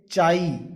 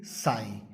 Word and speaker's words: psi: This साई, इसकी अलग अलग प्रोनाउंसिएशन होती हैं। साई, कुछ लोग इसे साई से प्रोनाउंस करते हैं, PSI साई। कुछ लोग इसे चाई CHI चाई से भी प्रोनाउंस करते हैं, और कुछ लोग इसे काई से भी प्रोनाउंस करते हैं, but actually it इज साई।